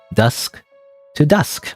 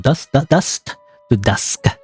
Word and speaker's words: Dust to Dusk: Guess that's it for Dusk to Dusk. I keep saying it wrong. Dust to Dusk. The tongue twister.